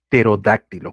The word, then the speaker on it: pterodáctilo: Pterodáctilo, correcto. Bien, pero se escribe con una P.